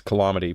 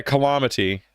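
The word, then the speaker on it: Callamaty: Yeah, Calamity. C-A-L-L-A-M-A-T-Y. It's like Calamity, but spelled like with the word llama in the middle of it.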